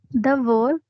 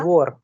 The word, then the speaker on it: двор: द्वा, दवोर, त्रवा, द्वोर, द्वोर, द्वोर, दवोर नहीं, जब द और व मिलते हैं तो द्वोर.